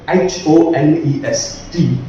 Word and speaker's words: honest: pronunciation suppose the word h-o-n-e-s-t that's called honest the pronunciation is obvious but we cannot say that we have to remove this h from here just that the sound starts with the o letter honest sound is coming